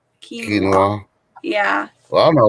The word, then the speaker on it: quinoa: said okay it's crazy says uh quinoa that's how you say it quinoa yeah well i don't